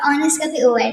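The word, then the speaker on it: honest: ठीक है ना तो हम इसको हा को प्रोनाउंस नहीं करते जिसकी वजह से हमारे पास नेक्स्ट है इनके शब्द हैं वो आर का ओ और ऑनेस्ट ठीक है ना जिसकी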